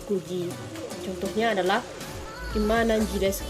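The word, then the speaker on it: 九時: Selanjutnya, cara baca untuk jam 4 dengan jam 9 itu berbeda dengan bacaan lain. Jika jam 4 bacaannya yaitu yoji, sedangkan jam 9 bacaannya itu bukan kyuji tapi kuji.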